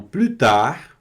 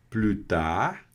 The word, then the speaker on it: plus tard: Então, plutar. E observem aqui que esse plutar eu não pronunciei o S, porque esse S aqui ele não dá a ideia de aumentar a quantidade, tá?